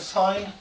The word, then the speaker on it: sin: Even though it's written as sin, we pronounce it sine.